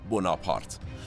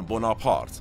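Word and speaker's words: Bonaparte: همینجا ابتدا عرض کنم تلفظ درست اسم بازیگر اصلی این قسمت از مورخ است: ناپلئون بوناپارت اما در ادبیات مصطلح سیاسی ایران به ناپلئون بناپارت معروف شده پس پیشاپیش از اینکه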